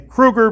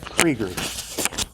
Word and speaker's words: Krieger: When I read the name Krieger, I see the name Kruger because that's the way it's spelled. I am so sorry. I've done that to you time after time. So, Krieger.